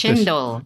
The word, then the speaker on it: cendol: Speaking of desserts and sweets, I read about something called, I think it's pronounced cendol, Cendol. Are you familiar with chendol.